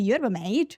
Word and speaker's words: yerba mate: And they're also known for the yerba mate and the mate drinking culture.